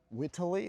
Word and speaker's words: Whiteley: And your surname is pronounced Whitily or Whitly.